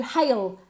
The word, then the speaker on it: hail: Hey con una H aspirada.